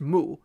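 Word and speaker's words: moou: this word in Copic that's pronounced moo M oou which is also like how it's spelled in the Greek for Moses and what does moo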